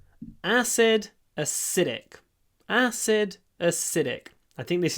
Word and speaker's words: acidic: acidic so maybe the most interesting thing here is that acid the stress is on the a but acidic the stress is on the is on the Sid or the S I should say acid acidic acid acidic